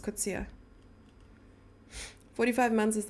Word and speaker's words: Kutsia: How do you pronounce the surname Kutsia? Kutsia? Kutsia? Kutsia. No, just Kutsia.